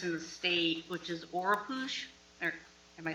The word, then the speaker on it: Oropouche: new mosquito virus in the state, which is Oropouche.